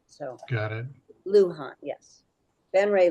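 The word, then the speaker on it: Luján: for Carol in fact do you say his name Senator L Luan or Luhan yes Lan okay Sarah Sarah got me a little mixed up because she brought in her very famous Spanish and another there's another pronunciation for it but that's not how he pronounces it so got it Luhan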